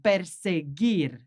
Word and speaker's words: perseguir: And interesting, this one, perseguir. So that doesn't sound like the previous sound, giraron. It sounds gir. So we need that U between the G and the I to make that sound gi, perseguir.